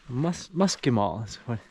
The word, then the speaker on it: muscimol: Muscimol is how he pronounced it.